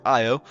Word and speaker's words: Io: We'll start with Io or Io, depending on how you pronounce it, which is this one right here.